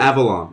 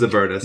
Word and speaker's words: Avernus: You mispronounced it. Avalon. I think it's Avalon. It's not Avalon. No, it's absolutely not Avalon. God damn. Avernus. It was Avernus.